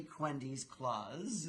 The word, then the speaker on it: Cuhendis Klaas: And it's Cuhendis Klaas, is the formal pronunciation of her name.